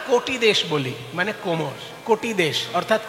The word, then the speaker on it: কটি: আমরা তো বাঙালি, ক লিখলে ওকার উচ্চারণ করি, ওকার লিখলে ওকার উচ্চারণ করি। তাই কটি তো আমরা বলি না, কোটি দেশ বলি, মানে কোমর।